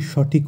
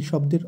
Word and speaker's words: श्वे: আমরা জানি তালিবর্ষ থাকলে শয়ের উচ্চারণটা হয় স, স কিন্তু নয়, এবং অন্তস্থীয় ব থাকলে সংস্কৃতে বয়ের উচ্চারণ হয় ওয়া, তাই এক্ষেত্রে উচ্চারণটি হবে শ্বে।